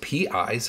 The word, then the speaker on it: pi: it's called pi okay so it's p i's how you spell it p i and it's pi it's a greek letter